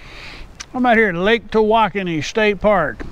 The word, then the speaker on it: Tawakoni: I'm out here at Lake Tawakoni State Park. It's in Texas. It's also been called Lake Tawakoni, but that's not the correct pronunciation.